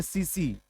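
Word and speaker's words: tsetse: T silent रहेगा, सीसी, नहीं नहीं सीसी मक्खी। हाँ, इसको, इसको ढोने का काम, कैरी करने का काम कौन मक्खी करती है, सीसी। टी साइलेंट कर लीजिएगा, सुनामी ऐसा टैलेंट साइलेंट रहता है टी इसमें, सीसी मक्खी।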